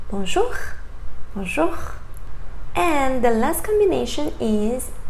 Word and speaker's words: bonjour: And then we have O and U together, sounds oo. For example, bonjour. You don't say bonjour, right? Please don't say that. Say bonjour.